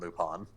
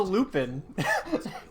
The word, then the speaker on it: Lupin: was a reference to Lupine yeah it's the same thing it's pronounced lupon because it's French oh here's the stupid